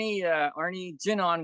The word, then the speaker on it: Jin An: Well, Arne Jinan. Jinan is my Chinese name, and in the Chinese culture, we start with the last name first. It's like Jinan. That's how it's pronounced.